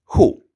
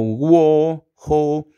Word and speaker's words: Who: grupo favorito en inglés primero aprendamos esta palabra Who Who pronúncialo conmigo Who esta palabra significa Quién es importante saber su pronunciación Porque muchos dicen w o w Ho pero no recuérdala es Who Who luego de